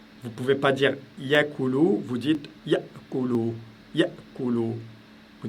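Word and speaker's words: يأكل: Ça se passe vraiment c'est un coup de glotte, ce qu'on appelle le coup de la glotte. Donc ici, au lieu de dire, vous ne pouvez pas dire yakulu, vous dites yakulu, yakulu.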